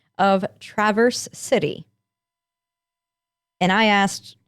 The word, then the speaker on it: Traverse City: for my teacher's sound but for the city they say the a like an actual short a like in cat so it's not traverse city it's traverse city okay well i stand